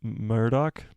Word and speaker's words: Murdoch: have hope I do have hope Murdoch is pronounced Murdoch I was right nice awesome he was the